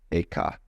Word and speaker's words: Eka: Bodhidharma had a pupil by the name of Eka, Huike in Chinese. Eka is Japanese pronunciation, like Zen is the Japanese pronunciation of the Chinese Chun.